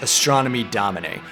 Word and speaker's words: Astronomy Domine: of sid barrett's tracks astronomy domine and yes that's the way roger waters pronounces it this is the opening